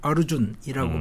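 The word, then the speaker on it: अर्जुन: 비임하고 셋째가 아르주나입니다 이게 아르주나라는 이름은 기억을 하셔야 됩니다 왜냐 바가바디 기타의 주인공이 아르주나입니다 예 아르주나 그래서 힌디로 발음하면 어르준이라고 발음이 되고요 그래서 인도에서 자체 개발한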